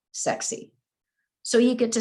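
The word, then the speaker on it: SEKSI: Sierra Echo Kilo, Sierra India, pronounced sexy.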